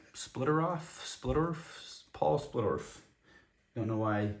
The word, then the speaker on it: Splittorff: Next up, we've got uh Split Paul Splurf. Splitter off. Splitterf. Paul Splitterf. Don't know why I butchered that name.